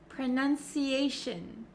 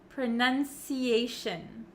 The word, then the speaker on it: pronunciation: but for pronunciation and any word almost that ends in t i o n we actually pronounce it as Shin Shin so you can see my mouth is not opening like an o sound pronunciation pronunciation okay that goes for station visitation cooperation all of these words end in Shin Shin you don't have to make it harder than it already is okay and then let's